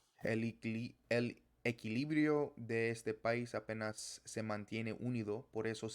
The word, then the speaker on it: apenas: Also apenas or apenas. The stress is different. And apenas or apenao is the Esperanto word which means the exact same thing, but in Spanish it's apenas.